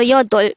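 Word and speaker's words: 여덟: pronounce it with me how do we spell yodo in tango let's start with the first syllable to be able to write this we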